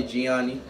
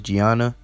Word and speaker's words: Gianna: Kobe and his daughter Gianni. Out of respect, I believe I mispronounced it. I believe it's Gianna. But rest in peace to both of them and prayers to his family.